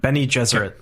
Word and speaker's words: Bene Gesserit: Bene Gesserit.